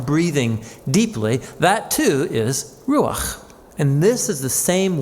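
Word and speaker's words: רוח: The Hebrew word is ru ru Yeah, you got to clear your throat at the end.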